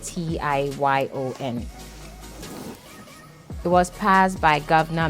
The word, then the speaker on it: Tignon: So Amastignon, basically Tion is spelled as Tignon, but pronounced Tiyyon.